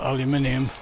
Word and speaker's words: aluminum: Yet they still spell aluminum the same way we do. They just ignore the I.